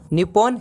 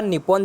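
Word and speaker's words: 日本: लेकिन अगर हम उसका सही से उच्चारण करते हैं इंग्लिश के वर्ड में, और जब मैं इसे इंग्लिश में लिखूंगा तो इसका इंग्लिश में सही उच्चारण, तो इस शब्द का असली उच्चारण इंग्लिश में बाहर आ ही नहीं सकता। अगर आप इसे इंग्लिश में लिखा हुआ निप्पॉन देखेंगे तो, लेकिन उसका असली उच्चारण निप्पो होगा।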